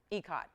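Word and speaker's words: ikat: fashion and patterns it's it's ecat or icat or really it's ecot is really how you say it because i looked it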